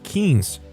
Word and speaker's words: quince: I say, "It's pronounced quince.